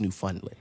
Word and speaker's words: Newfoundland: was it Newfoundland mm-hmm it's pronounced new funnily because you just say